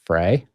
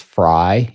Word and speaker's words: Frey: sauce it is pronounced Frey but when he came to America he moved to Chicago and everybody there said fry without taking out the E he just eventually gave